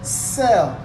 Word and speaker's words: cell: followed by e here you don't say kel you say sell cell here it is